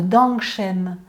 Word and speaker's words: Dangshen: le meilleur rapport qualité-prix sous le nom de Dangshen. Ça s'écrit D-A-N-G et plus loin S-H-E-N.